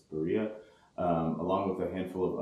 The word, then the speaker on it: Berea: It's not pronounced Berea here, it's Berea, along with a handful of other unincorporated towns and incorporated ones.